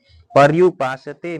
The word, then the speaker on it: पर्युपासते: पर्युपासते में जो है यहां पे पर जो है य का उच्चारण स्पष्ट करें।